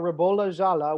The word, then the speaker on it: Ribolla Gialla: So let us know in the comments if you guys have any questions about Ribolla Gialla, which is how it's pronounced, by the way.